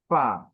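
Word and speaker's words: فا: আলিফ সামনের উপরের দাঁত নিচের ঠোঁটের পেট বাতাস চালু।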